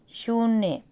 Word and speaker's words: शून्य: तो बड़ा उ आएगा शून्य अब शून्य जब बोलते हैं तो बड़े उ की साउंड आती है क्योंकि उ की मात्रा को हम थोड़ा टाइम लगा के बोल रहे हैं ठीक है तो शून्य